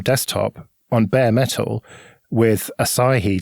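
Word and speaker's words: Asahi: on bare metal with acai linux i think that's how you say it like the beer ah god yeah that's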